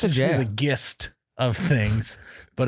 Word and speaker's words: GIF: it makes no sense it's pronounced gif but it should be jiff jiffy no gif it